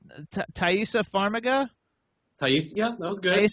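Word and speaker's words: Taissa Farmiga: pronounce all the names but how do you pronounce taisa faraga ta yeah that was good okay everybody you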